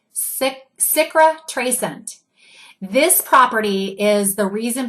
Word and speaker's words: cicatrisant: Let me spell that for you. It's Cicatrisant, and you pronounce it Citrascent.